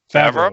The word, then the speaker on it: Favreau: I said his name wrong. Favreau? Favreau, that's it.